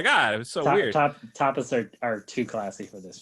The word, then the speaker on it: tapas: Tapas are too classy for this film. It's pronounced tapas, but yes.